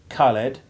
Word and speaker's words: Khaled: But such a sound is alien to English, and you can regard the H as silent in words like Khan, Khaled, and Khmer.